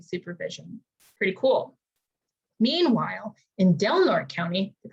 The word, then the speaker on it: Del Norte: are also conducting supervision pretty cool meanwhile in del norte county they pronounce it dilner which i always thought was weird but that's